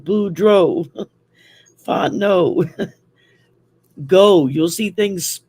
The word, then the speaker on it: Boudreaux: I'm everything down here ends in EAUX, and that's pronounced O. Thibodeau, Boudreaux, Fontenot, go.